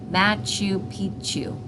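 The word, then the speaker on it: Machu Picchu: pck you bad moose she said matchu Pichu I thought she was nuts until my mom informed me that is how it is pronounced my mother went straight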